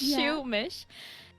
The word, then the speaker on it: Shoomish: But I was like, oh, but I'll take out the R, just to be a little bit original. So it's Shoomish, and I picked Shoomimi